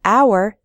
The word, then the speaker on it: hour: H H sound but in the word hour the H is silent so we say an hour we say a non-governmental